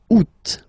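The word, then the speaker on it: août: And then here two options because uh well two options are acceptable in French. The first one you don't pronounce the final T the U. Second one you pronounce it oot.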